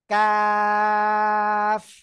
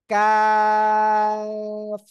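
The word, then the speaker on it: كاف: এই যে তাই না জিহ্বার গোড়া থেকে একটু আগে বাড়িয়ে এই যে একটু আগে বাড়াবেন বাড়িয়ে উচ্চারণ করবেন কাফ ওকে সহজে বুঝার জন্য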